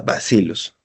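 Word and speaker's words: Bacillus: Bien, y para terminar y ya sean libres, vamos a hablar del género basilus. Se escribe vasillus, ¿no? Pero es el pero se pronuncia basilus.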